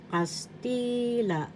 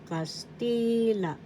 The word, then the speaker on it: Castila: and first syllable second syllable t third third syllable la the accent is in the second syllable t so you pronounce this as castila castila now our tagalog language